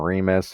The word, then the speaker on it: Remus: So that's how you pronounce that name. And then there's Romulus and Remus, who the video talks about as well as the reading.